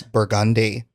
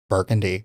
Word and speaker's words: Burgundy: So today's Louisiana word of the day is? Burgundy. Okay. Which everywhere else in America is? Burgundy.